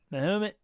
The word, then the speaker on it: Mahomet: I can't even pronounce that. Mahomet? Yeah. Mahomet.